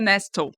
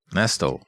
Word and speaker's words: Nestle: Senora Nestle é uma brincadeira porque o nome dela se escreve Nestle, mas se pronuncia Nestlel. Nestal e ela é